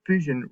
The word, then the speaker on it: fission: primary binary fission now remember fission rhymes with division so that's what fission